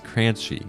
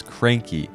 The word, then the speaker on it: Crunchy: The monster that I think fits this one best is Crunchy. Looking at Crunchy's bio, it says that some people can even mispronounce its name as Cranky because the mythical that created it can seem a little standoffish.